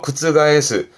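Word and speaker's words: 覆す: 뒤에 스가 나오면 발음은 어려워요. 구츠가에스. 구츠가에스는 뒤집힙니다.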